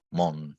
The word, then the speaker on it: Mun: que se llama Thomas Moon. Moon se escribe, M-U-N.